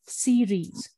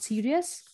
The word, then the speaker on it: series: wrong okay which is i watched a lot of series not serious series okay so i watched